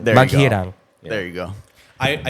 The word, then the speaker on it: Maghirang: Yeah, Maghirang. There you go. Maghirang.